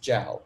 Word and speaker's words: Jiao: just very quickly uh my last name is pronounced jiao uh with a j oh thank thank you